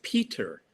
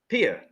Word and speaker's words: Peter: but I say it my name name is Peter pet yeah okay Peter that's right okay that's right but the but the but the bad pronunciation in England is Peter Pier Pier that's mean no I know and and